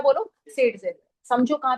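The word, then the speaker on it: Zaitsev: सेडजेव। समझो कहां पे कौन सा रूल लगा रहे हो, राइट? वैसे इसको प्रोनाउंस जेड सेफ करते हैं, उल्टा करते हैं, पर व्हाटएवर इट इज फाइन, फर्क नहीं पड़ता।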